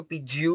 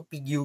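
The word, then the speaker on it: Pigou: Charged for dash एसीपीयू कुछ लोग उसको पीजीयू भी प्रोनाउंस करते हैं। कुछ लोग उसको पीग्यू भी प्रोनाउंस करते हैं।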